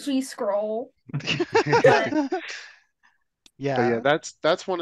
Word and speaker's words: GSCRL: hear more about gserl we pronounced it g scroll yeah yeah that's that's